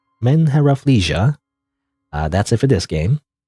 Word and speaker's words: MenheRafflesia: But anyway, but I guess that's it for the name of this game, which I always don't know how to pronounce. It's MenheRafflesia. MenheRafflesia.